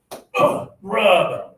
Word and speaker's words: rub: Okay, so for this one here, like with but okay, we got to put the pressure in our stomach here. This one is rub.